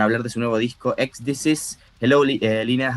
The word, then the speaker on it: Ecdysis: How do you, you let me know if I'm pronouncing that It's correctly? Ecdysis, yes. Ecdysis, perfect.